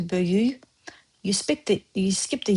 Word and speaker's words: böyük: Now, see böyük, we write, we say böyüy. Biyabırçılıq, we write, we say biyabırçılıq sound at the end. So natives say bu hadisə böyük biyabırçılığıdı. Is as if you either skip böyük, that is, it turns to böyüy.